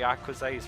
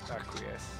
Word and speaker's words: acquiesce: more than happy to acquisize for any readied actions. Acquiesce. Acquiesce. Like if I could just say it like it's spelled, right? Crane. Acquiesce is like acquiesce, it's just colder.